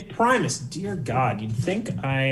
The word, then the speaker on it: Primus: cardi B Janelle Monae The Flaming Lips and Primus also yes did I say it wrong again it's Primus dear God you'd think I uh you'd think